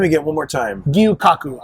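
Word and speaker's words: Gyu-Kaku: again one more time gyu Kaku I believe I'm pronouncing it correctly but I'm I don't have a gyu dash Kaku k-a-k-u yeah and it's funny I've walked past this before I've heard people call it guyukaku and it's like it's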